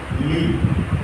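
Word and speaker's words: Lie: इसके बाद इनके शिष्य जो इनके जितने भी शिष्य रहे उसमें से एक शिष्य का नाम सोफी ली, ये प्रोनाउंसिएशन इनका ली है, और ली जिन लोगों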